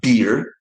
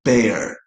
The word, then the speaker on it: bear: The next one what you see in the middle of the list is not beer and peer. That that's crazy. But so many people say beer and peer which actually sounds like something alcoholic and somebody who is of your age. The the animal is called bear bear and the fruit is called pear pear.